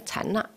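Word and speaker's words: 禅那: 禅定，它的梵语啊，哦，梵语的发音是禅那，啊，那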